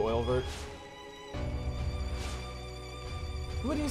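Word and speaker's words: Oeilvert: Oh, Welvert? Oh, you're right, it could be. It could be. That's how you pronounce it too, Oilvert.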